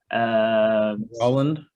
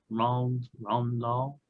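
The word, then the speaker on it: Roald Dahl: Roland? No, it's Ron Dahl.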